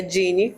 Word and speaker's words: Jeane: Meu nome, de fato, a pronúncia dele é Dine.